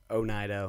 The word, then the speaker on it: Oneida: town now this is al naida right where's aldenaida it's a little bit north of us so al nida some people say oneida one one ida if you listen to